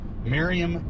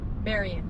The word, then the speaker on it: Marion: Engineers campground on a beautiful little Reservoir and Merriam County Kansas is that right Marion Marion County Kansas yes he can never pronounce anything right what I should do is